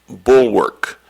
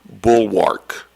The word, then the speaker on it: bulwark: And this also has a couple of pronunciations, so I'll give them to you. The word is bulwark. Bulwark. It can also be pronounced bulwark. Bulwark or bulwark.